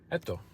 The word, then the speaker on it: ATTO: ATTO, that's the name of the car. That's apparently how you pronounce it.